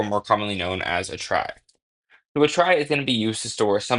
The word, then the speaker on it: trie: So, we're just going to kind of pronounce it as a try, like a tr.